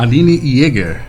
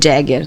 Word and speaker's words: Jäger: Sim, mas é que como eu sou da área do inglês, muita gente sempre acha que meu sobrenome é Jagger, né? Parente do Mick Jagger, mas não, é Jäger.